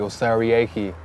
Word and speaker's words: Osariehi: It's actually Osariehi is the full pronunciation. Osariehi.